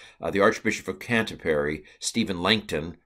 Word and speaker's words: Langton: And the year was, but in the early 1200s, the Archbishop of Canterbury, Stephen Langton, rhymes with plankton, added the chapter divisions as we now have it.